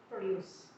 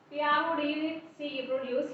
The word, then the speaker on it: produce: It means produce means which means total quality produce. Whereas produce, here the stress is on the second part of the word.